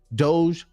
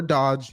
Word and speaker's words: DOGE: Department of government offici Doge or Dodge you choose how you want to pronounce it of course and yes